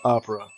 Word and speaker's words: Oprah: her name, her real name is is uh actually Oprah, but it's pronounced Opera.